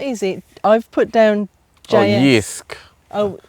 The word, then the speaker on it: Jysk: I've put down Jysk. Oh, I think they pronounce it Jysk, Jysk.